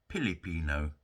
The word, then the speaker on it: Filipino: My wife, Melody, is Filipino, or as they would say, Filipino, because Filipinos don't have the letter F. So they pronounce it as P.